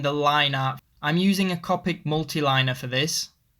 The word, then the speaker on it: Copic: be a good idea sorry I pronounced it Copic I know it's actually Copic so I do use